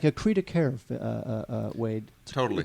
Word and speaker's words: cri de coeur: And really, this movie it's like a cri de coeur, Wade.